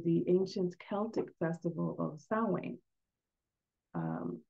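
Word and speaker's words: Samhain: the way to the ancient Celtic Festival of sa um it's spelled s a m h a i n but it's pronounced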